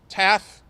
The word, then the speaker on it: TAAF: and we're so excited to partner with TAAF, TAFF. Am I saying it right? Yeah. Okay. TAFF on this exciting work, and Georgette will be